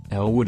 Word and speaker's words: Elwood: Bears the name Elwood Elwood is identical to L wooden pronunciation Larry Wood has made